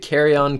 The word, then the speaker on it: carrion: is carry-on koozies and if you don't know what carry-on is it's actually spelled with a c' but it's kind of a formal way of saying dead animal so went ahead named it carrion koozies and honestly i